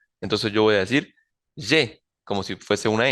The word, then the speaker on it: je: Entonces, no decir je suis, sino je suis, y en este segundo, pronunciar bien esa E normal, je, bueno, normal para el español, je, que sería entonces yo tengo, je.